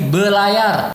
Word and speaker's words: belayar: Dalam bahasa Betawi itu menjadi belayar. R-nya tidak diucapkan.